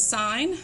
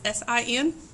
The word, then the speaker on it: sine: ratios are provided for you this relationship is sign you'll see it abbreviated on the calculator is s i n it is not pronounce a sin this will be abbreviated as